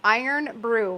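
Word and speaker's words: Irn-Bru: Only place in the world that's pronounced Iron Brew.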